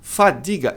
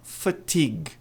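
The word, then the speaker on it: fatigue: Eu não sei por tem um T aqui, mas muita gente pronuncia esse T como D. A pronúncia correta é fatig.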